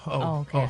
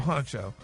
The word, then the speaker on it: Hunxho: I think that X is silent. The X ain't. It's not. You don't really. It's like a C. It's like a C. Yeah. But it's an X. It's a C.